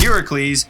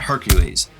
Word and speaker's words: Heracles: And for all you Greek nerds out there, I know it's actually pronounced Heracles, not Hercules.